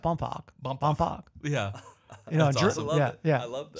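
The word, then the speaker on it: Bohmfalk: h m f a l k bounc it's pronounced bump bump yeah I love that so yeah Egypt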